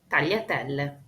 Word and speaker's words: tagliatelle: The first sound is the combination of G and L. It sounds like this, y. A trick to help the pronunciation is to smile wide. It is similar to the double L in French or Spanish in words like fille or famille or paella. Y, aglio, tagliatelle. G combined with N is gn.